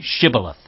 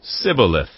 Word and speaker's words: shibboleth: they said all right say shibboleth if he said sibileth because he could not pronounce the word correctly They seized him and